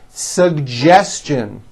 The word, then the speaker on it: suggestion: educate educate next one suggestion this one's also a bit tricky sugestion suggestion very good now the American J